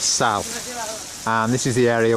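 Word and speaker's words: Salt: It's pronounced Sal. You don't pronounce the T, it's not Sol, it's Sal.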